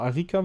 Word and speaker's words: Arika: Ich glaube, Arika wird es ausgesprochen.